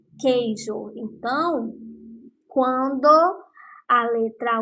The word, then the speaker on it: queijo: pronunciar a palavra queijo quando pronuncio a palavra queijo vocês não escutam para oficial eu não falo coejo eu falo queijo então quando a letra